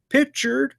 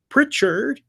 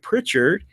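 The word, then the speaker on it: Prichard: is uh something to wrestle with host Bruce pitard Pritchard let make sure I pronounce that right Pritchard uh good guy good guy nice to see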